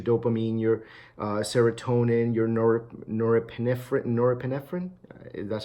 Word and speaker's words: norepinephrine: gonna increase your dopamine your serotonin your nor norepinephrine or epinephrine that's how you pronounce it you know it'll do that and